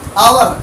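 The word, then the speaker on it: hour: लगाना है, तो नहीं, इसका हिंदी उच्चारण होगा आवर। क्या होगा? आवर। आ से चालू है, इसलिए इसके पहले एन आएगा।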